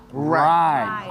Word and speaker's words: right: Right. Right. Oke. Oh, jadi sedikit salah. Jadi tuh kalau cara baca right ini nih GH-nya tuh silent juga, jadi langsung right gitu.